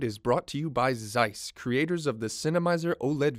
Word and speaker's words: Zeiss: company out there is Zeiss did I say it right yeah Zeiss it sounds German or something then I